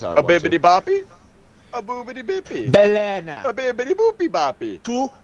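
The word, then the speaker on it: balena: Oh, we he's like, oh, no, Belena. That's how you say it.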